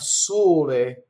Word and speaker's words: sole: But then you'll have sole, where it's closed.